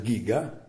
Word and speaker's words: Giga: mostro, è il Grandizer Giga. Non dite giga perché l'ho scritto sulla pagina Facebook e mi hanno massacrato per questa cosa. La G e la I si legge Gi in giapponese.